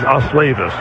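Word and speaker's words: Osleivis: His first name is Oavis. It is spelled O S L E I V I S.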